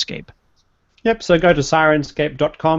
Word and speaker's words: Syrinscape: and about Sirens scape yep so go to senscape like but it's spelled s y r i ncape and you